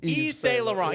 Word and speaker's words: Yves Saint Laurent: Yves Saint Laurent.